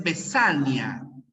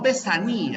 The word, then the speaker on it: vesania: mediante la escritura también es vesania no Baní ya es vesania siempre siempre es vesania siempre es vesania así